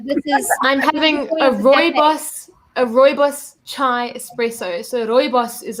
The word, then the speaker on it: rooibos: I've got some friends who do drink red bush, but when they bring it up, I'm like, no. It's rooibos. Say it right, people. It's rooibos, and it's from my country.